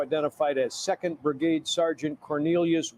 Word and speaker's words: Quornelius: The attack suspect now identified as Second Brigade Sergeant Cornelius Radford, his first name spelled with the letter Q.